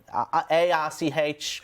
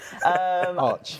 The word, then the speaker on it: ARCH: you type in !ARC, ARCH, god damn it, that's another issue with my pronunciation. Arch. Arch, yeah, it's not Arc.